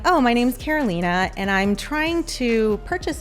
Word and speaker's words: Carolina: over here green goes over here but it's pronounced Carolina she's in the Northwest leadership and sub 2.